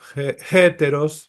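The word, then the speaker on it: ἕτερος: Heteros se pronuncia con una H al principio. Heteros. Sí. Una J. Una J suave. Heteros.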